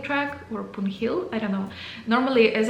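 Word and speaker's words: Poon Hill: It's also known as punil track or punhill. I don't know. Normally, as I heard the Nepalese people, they also don't pronounce the h in this name.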